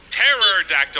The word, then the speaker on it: pterodactyl: is a potato nice pterodactyl is right the p is silent guys away wow guys oh